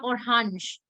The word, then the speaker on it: Orange: the first word yeah or hanj it is remember the orhanch and the orhanjan that is the pronunciation for the plural yeah then we have